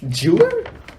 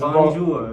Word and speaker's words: Bonjour: Jewer? I think you said it wrong. Yeah, it's Bonjour.